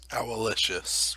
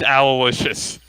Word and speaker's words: Owlicious: Or is it Owlicious? Owlicious. It's Owlicious. Okay.